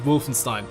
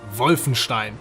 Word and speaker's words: Wolfenstein: And sorry, I can't keep pronouncing it Wolfenstein. It's Wolfenstein. It just sounds more authentic when you pronounce it the German way, doesn't it?